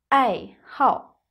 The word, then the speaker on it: 爱好: 爱好 Notice that here the character 好 has a fourth tone, a falling tone, like in the words 你好which is a third tone. You know, some characters have more than one pronunciation.